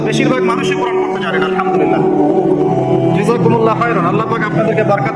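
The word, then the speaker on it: الحمد لله: আলহামদুলিল্লাহ। এই হা এর মাখরাজ কোথায়? হা এর মাখরাজ কোথায় বলেন একজন? কণ্ঠনালীর মাঝখান থেকে।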